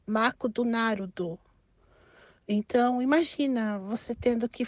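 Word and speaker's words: マクドナルド: bizarro é por exemplo McDonald's no Brasil e nos Estados Unidos se pronuncia bem parecido né agora aqui no Japão já se pronuncia mako do Naruto Então imagina você tendo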